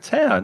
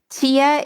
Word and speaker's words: tear: tear wear and tear but the word tear that same spelling has another meaning tear but it has a different pronunciation but it has the same spelling tia is what comes the water that comes out of your eyes but tear is when you do